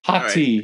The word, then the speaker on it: Hati: Yeah, that's how people are pronouncing it. Dude, I'm not in. Okay. Hati, right.